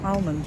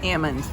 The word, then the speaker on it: almond: you pronounce it well two ways depending on who I'm talking to if it's a local I say Ammon and if it's somebody else I say almond how do you pronounce